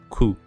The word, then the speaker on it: く: ensuite le troisième caractère qui suit alors ça ne se lit pas qu malheureusement mais ça se lit coûts coûts alors coup ça s'écrit